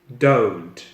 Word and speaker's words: don't: it's audio okay and the word don't it's not don't it's not oh it's oh so it's don't as you can see